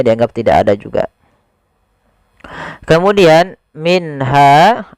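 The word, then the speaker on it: مِنْهَا: tidak ada juga kemudian minha di sini ada nun sukun bertemu dengan ha maka kita hukumi dengan bacaan izhar halqi Apa itu izhar halqi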